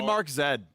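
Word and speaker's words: Markz: i believe it is me the marks is pronounced as this one in the letter z z whatever you want to be mark zed actually a one-trick you're one of those people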